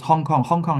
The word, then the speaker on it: Hong Kong: Yes, Hong Kong is Cantonese pronunciation. Xianggang is Mandarin pronunciation.